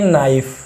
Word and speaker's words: knife: With एक चाकू यानी ए नाइफ, KNIFE, यहाँ पे के साइलेंट हो जाता है।